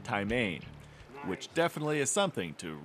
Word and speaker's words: taimen: Doug Hayes has hooked his first taimen, or more properly pronounced, taimen, which definitely is something to really get excited about.